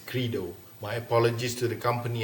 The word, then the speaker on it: Credo: Throughout this video, I mispronounced the company name Credo. The correct pronunciation is Credo.